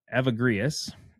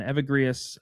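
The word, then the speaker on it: Evagrius: the name of uh of avagrius on evergreas uh or avagrius is probably the right way to say it uh was one of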